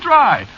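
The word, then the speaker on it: Drei: Yeah, but of course that ain't the way you spell it, see? What? No, you see, it's a German name. Is it? Yeah, sure. Spelled D-R-E-I. It means 3, you know.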